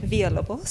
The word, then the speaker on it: Villalobos: Villalobos. Villalobos? Yeah, Oh, it's a Via. Yeah. No, so you don't pronounce the L.